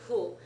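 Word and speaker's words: ふ: is who notice that it is halfway between an f and an H sound okay it's like you keep your lips in an H position but try to say f yeah so it's more aspirated you're blowing more air than with an H works yeah so head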